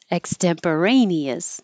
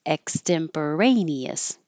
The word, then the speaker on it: extemporaneous: because of the question it's spelled with an X so why did I put a k here because the letter X doesn't have its sound of its own it's really a KS like box or it can be